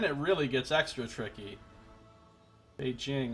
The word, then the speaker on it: Beijing: really gets extra tricky be Jing is correct why does everybody say at Beijing inform rer he can